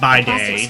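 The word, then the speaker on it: bidet: She pronounces it by day.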